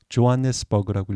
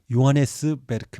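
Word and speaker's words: Johannesburg: 도시인데이 도시에 스펠링은 이렇습니다 어떻게 읽을까요 조한네스 over 그라고 읽으셨나요 그러면 영어식으로 읽으신 겁니다 요거는 요하네스 베르크 있니다 왜냐면 남아프리카 공화국은 네덜란드가 식민지화 했던 곳이기 때문에 게르마 어를 쓰게 되죠 그래서 게르만 식으로 발음을 해야 됩니다 베르그 요새를 뜻합니다 그래서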